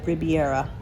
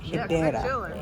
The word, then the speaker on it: Ribeira: It actually spells like in American, I would pronounce it as Riviera, but it's actually pronounced Ribeira area.